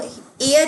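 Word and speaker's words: heir: लेकिन ये जो वर्ड है इसे भी हम प्रोनाउंस तो एयर ही करते हैं, नो डाउट इसकी स्टार्टिंग में एच आ रहा है बट ये एच साइलेंट होता है।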